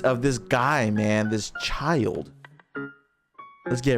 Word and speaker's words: Childe: what you guys told me that's how it's pronounced child that's a child i thought it was chill day it's pronounced child so we're going to react